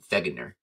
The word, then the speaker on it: Wegener: And it was first proposed by a man named Alfred Vegner. His name last name starts with a W, but he was German. And so the W is actually pronounced like a V, like vegger.